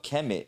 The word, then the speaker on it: Kemet: Because the real pronunciation of Kemet is Kemet, and that's the way you pronounce it.